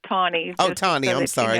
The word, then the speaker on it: Taney: Charles, and it's pronounced Tawney.